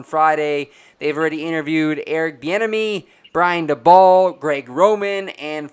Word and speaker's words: Bieniemy: Bieniemy. Bieniemy. Yeah, Bieniemy. I just don't ever want to mispronunciate someone's name.